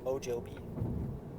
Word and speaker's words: Mojave: j a v e o joby o joby desert remember the j sounds like an h oh well desert almost